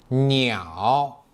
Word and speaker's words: 鸟: 鸟 Please watch my accurate pronunciation. 鸟 n i 袄鸟鸟小鸟小